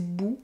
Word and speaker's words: bouts: La vie c'est court, mais c'est long des petits bouts. Et là, on voit qu'il prononce le T final de bout, c'est long des petits bouts, des petits bouts. C'est long des petits bouts.